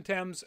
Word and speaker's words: Thames: already cast uh Mason I'm gonna pronounce his name is Thames like the river I looked up YouTube